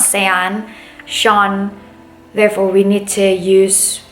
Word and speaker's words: Sean: Unless your name has vowels that has a very different sound than what it is. For example, Sean. It's not, it's not Sean. Sean.